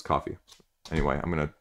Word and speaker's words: Ko-fi: the same way as Ko-Fi or coffee. I always want to say Kofi, but, you know, it's coffee.